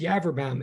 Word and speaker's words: Yaverbaum: forensic science major, yeah, my name is Yaverbaum, and you know, it rhymes with cadaverbaum or cadaver town even.